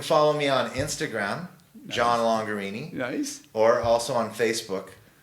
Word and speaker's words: Longarini: The Mona Lisa, you can follow me on Instagram, John Longarini. Nice. Or also on Facebook, John Longarini. And Longarini is spelled? Rhymes with Lamborghini. Lamborghini, John Longer. Yeah. Okay. Longarini.